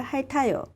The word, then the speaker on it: 핥아요: 밟아요 악셀을 밟아요 악셀을 밟아요 강아지가 내 얼굴을 핥아요 강아지가 내 얼굴을 핥아요 핥아요 강아지가 내 얼굴을